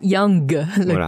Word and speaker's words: Yang: y Yang là effectivement la transcription phonétique c'est y a N G à la fin mais attention on prononce pas Yang que pas trop fort ça fait Yang ou il faut vraiment le prendre comme si vous avez un peu un jet qui vous reste dans la gorge mais vous prenoncez pas complètement quoi ah ok voilà c'est